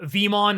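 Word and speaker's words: Veemon: So, Vmon is said the same, but it's spelled differently. In Japanese, it's the letter V-mon. In English, it's V-E-mon.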